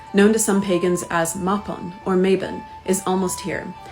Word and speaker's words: Mabon: Around the 1960s or 70s, neo-pagans started to refer to the fall equinox as Mabon, or probably more commonly as Mabon, which is a mispronunciation.